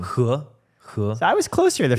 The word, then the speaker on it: He: What's the correct pronunciation? He.